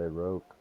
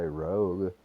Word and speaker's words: Rogue: wrong I would say Rogue look you say Rogue you don't call him a Rog UE you know Thief class